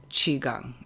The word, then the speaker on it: Qigong: really profound for you from the book is Qigong is am I saying it right yes so